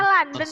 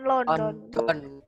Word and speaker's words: London: London, bacanya London ya, bukan London.